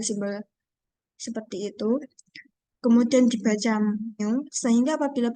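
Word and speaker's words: μ: Din dinotasikan dengan simbol seperti itu kemudian dibaca mu sehingga apabila bacanya Mi maka Mi adalah sama dengan x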